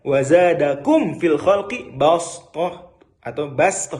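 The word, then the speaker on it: بسطة: atau basto, kita bacanya basto dengan sin. Tapi ditulis dengan sod karena zadaku menambah kalian, bangsa Ad ya di ayat tersebut.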